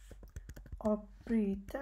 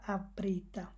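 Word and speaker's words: avbryta: এখন দেখেন এখানে আমাদের অটাকে কীভাবে উচ্চারণ করা হচ্ছে, এখানে প্রথম বলতেছে কান, এখানে আবার আভ হচ্ছে না, এখানে বলতেছে না তারা আবৃতা, তারা বলতেছে অবৃতা।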